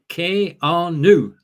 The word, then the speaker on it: Keanu: keanu sorry wrong first keanu reeves first name is pronounced k-r-new which is sort of the k-e the r and the new uh and not the other one uh that isn't the